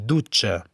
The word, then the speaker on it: dutxa: També és important saber que TX i IG en fi de mot se pronuncien de la mateixa manera com maig i dutxa.